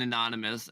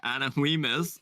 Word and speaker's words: anonymous: because there's a W in anonymous, and the first time he came in chat, I butchered his name and said Anna Weemus, and then I was like, oh, it's anonymous, Oops, and I'm an idiot.